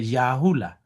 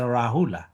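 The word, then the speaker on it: Rahula: In Burmese, we say the Yahula. Yeah. But uh the correct pronunciation is a Rahul.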